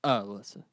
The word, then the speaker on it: Alyssa: And it is like Melissa without the M at the front of it. Some people spell it like Alyssa Milano. That's not what we were going for. It's Alyssa.